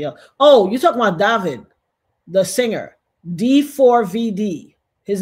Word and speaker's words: D4VD: Oh, you're talking about David, the singer. D4VD. His name is spelled D with the number 4, which is supposed to be the letter A, D and VD. So it's David or David.